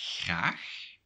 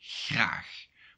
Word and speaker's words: graag: So, for example, for the word graag, in Belgium, it would sound like this, graag. But in the Netherlands, it's quite a different word. It's like graag, or something like that, because my pronunciation with